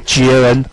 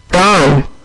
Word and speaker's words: GAN: GAN 不是骂脏话 OK，所以说呢这个字就是念歌安四声。